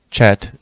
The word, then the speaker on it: Chet: The CH of the Chet is pronounced like the CH of the Scottish word lock.